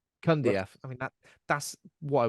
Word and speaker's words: Cundieff: Cundieff. Cundieff.